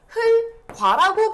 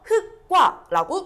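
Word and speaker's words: 흙과: 음, 지금 친구들 보면은 여기 흑과 같은 경우는 여기도 똑같이 적용돼서 흘과라고 발음한다라고 말하는 친구들이 지금 많아요. 그런데요 발음은 틀렸어요. 왜 틀렸을까요? 음.요 흙은 뭐예요, 우리? 체연이에요. 체연은 여기서 말한 예외 조항 용원이 아니에요. 그렇기 때문에 얘는 예외대로 발음하는 것이 아니라 원래 원칙인 둘째 자음대로 발음한다. 요걸 따져서 흑이라고 해 줘야 되고 그 뒤에과 같은 경우는 기억 뒤에 기억이 만났기 때문에과 된소리 대기가 적용돼서 흑과라고 발음하는 것이 정확합니다.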